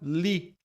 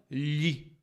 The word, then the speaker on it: lhe: muitos significados Além disso a pronúncia dela é fraca isso fica claro quando a minha professora falava Li e não lhe e isso pode confundir